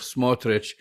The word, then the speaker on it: Smotrich: Ukraine from the town of smotrich same pronunciation except the I replaced the eye with the Y and there is a